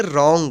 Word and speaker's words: WRONG: WRONG, इसको पढ़ेंगे रॉन्ग। रॉन्ग means गलत। यहाँ पे भी W के बाद जो है R है, इसलिए W का उच्चारण नहीं हुआ है।